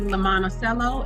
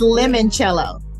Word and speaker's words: limoncello: award-winning brand uh Daphne La Monticello am I pronouncing it correctly it's limoncello limoncello oh I done gave it